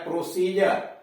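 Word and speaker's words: procedure: PROC सी डी यू आर ई, डी के बाद यू आर ई आ गया प्रोसीजर, इसलिए उसका उच्चारण ड के बजाय ज हुआ।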